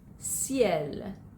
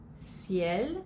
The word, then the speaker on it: ciel: সো সির পরে যদি ই আই বা ওয়াই থাকে তখন সিটার উচ্চারণ হবে অ্যাস এর মতো।